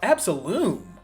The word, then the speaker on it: Absolum: It's supposed to be pronounced It's basically a play on the word absolute.